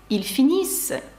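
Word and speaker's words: ils finissent: пишеться Ось так вимовляється ільфініс вони кажуть пишеться Ось так і читається як ільдіз нт наприкінці дієслів не читається також наприкінці слів у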